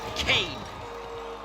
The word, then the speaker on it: Cain: Cain rhymes with pain.